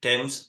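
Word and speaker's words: Thames: north side of temps and yes it is pronounced temps not hes from Fulham Broadway Station I had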